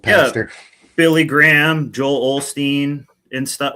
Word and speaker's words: Osteen: Here's Everybody pronounces it Olstein, right? Here's a good one. Because I thought that's what it was. But where's the L at? Is Phillips with Olsteen? No, Osteen.